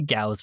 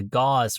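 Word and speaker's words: Gauss: Is it a Gaus rifle or is it a gauze rifle or or a G or G rifle? At least at least one one pronunciation guide said it rhymes with a ghost rifle.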